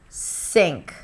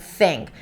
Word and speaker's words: think: Sink, sink. And then you're pronouncing an S sound instead of a TH sound. Sink instead of think.